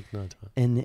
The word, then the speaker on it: Thich Nhat Hanh: Meaning, like, so for me, I remember reading a Thich Nhat Hanh book. Did I pronounce that correctly? Yeah, Thich Nhat Hanh.